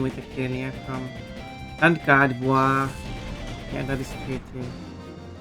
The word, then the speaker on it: Gardevoir: And it's also important that it is Gardevoir. It is not Gardevoir. Because that sounds like the word. That sounds like the word war.